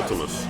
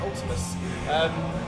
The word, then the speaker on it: Vltimas: Not V. Pronounce it U. Oh, it's like a Roman U. okay. Vltimas. All right, Ultimus.